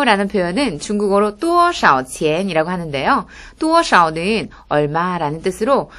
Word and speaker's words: 多少: 多少는 얼마라는 뜻으로, 多는 좀 높게 음을 발음해 주시고요. 少는 짧게 끊어주세요.